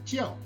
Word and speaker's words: 叫: to learn today is pronounced the fourth tone jio it means to call